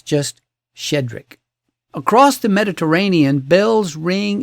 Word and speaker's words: Shchedryk: And if you tried to pronounce every consonant cluster, your tongue would file a complaint. But it's just shedric.